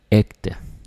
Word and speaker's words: ægte: It's ægte. So you could say fægte, nægte, ægte. Yes, that's a word. Fægte, nægte, ægte. Right. That's how it is. It's once again a hard G.